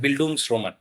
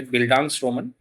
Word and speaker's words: Bildungsroman: gives an association to a German term called Booms Roman. However, there are certain uh you know confusion regarding the correct pronunciation to this particular word. Some people say Bangans Roman.